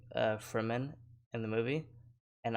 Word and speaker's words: Fremen: uh they're saying uh for men in the movie and i was pronouncing it as freeman because it's spelled f-r-e-m-e-n and the whole thing